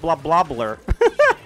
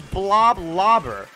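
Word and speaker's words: Bloblobber: you pronounced that weapon I thought it was just blah blah blur it's blob lobber I figured out by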